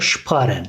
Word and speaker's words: sparen: S, P, şıp şeklinde okunuyor. Yani S, P olduğunda kelimenin başındaki S harfini biz Ş şeklinde okuyoruz. Kelimenin başındaysa.